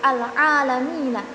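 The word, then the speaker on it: العالمين: Misalnya penulisan kata al-alamina dalam rasm ditulis tanpa alif setelah huruf ain, seolah-olah dibaca al-alamina. Hanya berbeda pada penulisannya saja, tetapi cara bacanya tetap sama, yaitu al-alamina.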